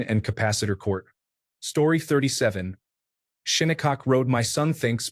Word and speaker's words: Shinnecock: Shinnecock Road. My son thinks pronouncing it Shiny Cock is the pinnacle of humor.